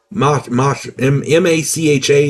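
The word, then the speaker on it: Mácha: In 1836, the Czech poet Karel Hynek, let me get his name right, Karel Hynek, M-A-C-H-A, and the accent is on the first A, so I'm going to say Macha.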